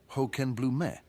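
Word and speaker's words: Hochenblume: challenge of German pronunciation hoken Bloom would be pronounced as hoken Blum a tongue twister for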